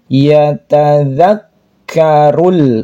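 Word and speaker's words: يَتَذَكَّرُ: yauma yatazanya di ujung lidah yatazak ini huruf k-nya bertasydid maka harus ditekan ada nafas yang keluar sifat daripada huruf k yatadzakkarul rulnya alif lam qamariyah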